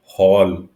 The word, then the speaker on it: haul: आई am sorry, मैं यहाँ पे HAUL जो वर्ड है, हॉल, मैं उसको हाउल हाउल बोल रहा हूँ। मुझे माफ़ करना, मेरी प्रोनाउंसिएशन थोड़ी सी गलत हो गई थी, सॉरी।